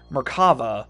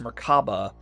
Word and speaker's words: Merkava: Merkava, sometimes pronounced Merkaba, is the Hebrew word for chariot, and was